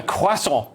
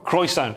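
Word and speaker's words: croissant: to his son eating a quasa or cant if you're Scottish I only found out it's pronounced quasa when I moved to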